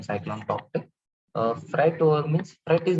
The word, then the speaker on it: Tauktae: Tauktae's, so the pronunciation cyclone Tauktae.